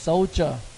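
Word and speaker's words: soldier: ครับ ก็ คือ ทหาร อ่าน ว่า เจ นะ ไม่ เด ออก เสียง เป็น ตัว j solder po อัน นี้ ตำรวจ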